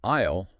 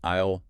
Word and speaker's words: aisle: Well, isle definitely it's pronounced like isle rhymes with smile.